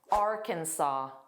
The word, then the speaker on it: Arkansas: The pronunciation is Arkansas. Arkansas, which does not look like the spelling. So notice that silent s, the very last s is silent. So it's saw. Saw just like the past simple of c. Saw. And that middle sound is unstressed as well. So it's kin kin kinsaw. Kinsaw Arkansas.